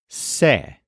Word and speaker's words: sé: is the word for I know which is say this is spelled s e with an accent mark over